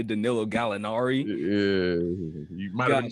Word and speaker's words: Gallinari: You kind of butchered my boy's name, Danilo Gallinari. What did I say? Danilo Gennari.